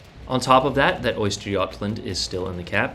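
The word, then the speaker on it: Östergötland: you would have noticed that there was an Oysterjotland in the cap there. Yes, that is how you pronounce that ship.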